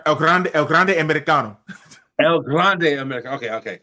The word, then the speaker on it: El Grande Americano: I always get his name wrong. El Gigante Americano. El Grande Americano.